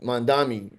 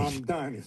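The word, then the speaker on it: Mamdani: He raised 24, I think he raised like $24 million for the primary, which was way more than Mondami. Say his name again? Donnie? Mom Donnie.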